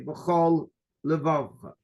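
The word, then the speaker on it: בכל לבבך: Stop, because if you say b'chol levavcha, you're using 1 lamed for both. So you're making a run-on word. B'chol levavcha. You have to say b'chol levavcha.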